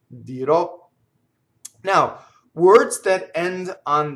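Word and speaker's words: dirò: say right dear all future dear o always open open at the end dear o now words that end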